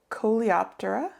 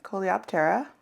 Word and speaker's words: Coleoptera: Beetles are in the order Coleoptera, or Coleoptera, depending on how you pronounce it.